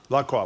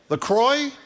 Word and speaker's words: LaCroix: La Croix. What is it? How do you say it? Tangerine. LaCroix? No, it isn't. LaCroix. Is that true? LaCroix rhymes with enjoy.